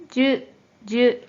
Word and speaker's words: 樹: 자, 이 한자 뜻으로는 발음이 없고 음으로만 じゅ、じゅ、 라고 짧게 발음해줘요.